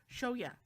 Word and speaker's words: Shoya: No, it's not Shoka, it's Shoya. There you go. Sorry, Shoka is the girl that that gets kind of introduced mostly in the beginning of this series. So Shoya is kind of a